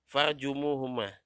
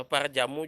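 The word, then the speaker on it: فارجموهما: Farjumuhuma. Kalau parjamu juga kurang enak, ya. Parjamu pahit juga, parjamu.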